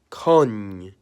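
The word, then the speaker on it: конь: When you add the soft sign to the end of it, it becomes con, the word for horse.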